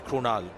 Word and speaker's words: Krunal: But we pronounce it the same way, right? Still got to be Krunal.